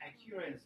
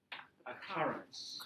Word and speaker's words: occurrence: I always pronounce that accurance of Oh, not ac. That's sounding a bit, it's sounding a bit like accuracy. Schwa, a car. Now that's an and the stress is there. Occurrence.